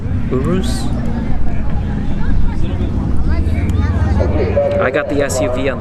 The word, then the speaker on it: Urus: the right lane right or is that you pronounce it uru Urus I got the SUV on this one that